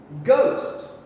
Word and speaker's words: ghost: what's a ghost okay the h becomes silent and we do not hear it it's a ghost ghost easy peasy all